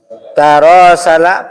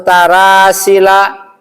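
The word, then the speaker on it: تراسل: Tidak mungkin dibaca taawina atau tarasila ya atau dibaca tarahuma. Enggak. Semua wazannya tafa'ala gitu ya.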